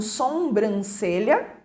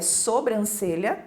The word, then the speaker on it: sobrancelha: né come um R sobrancelha é outra palavra que acaba ganhando na pronúncia 1 m a mais né um ele aliás um sombrancelha é e é sobrancelha não é sombra reivindicar e muitos trocam